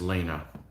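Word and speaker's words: léine: It's called Elena. Leine is Lena. There's some accents in there somewhere, but yeah.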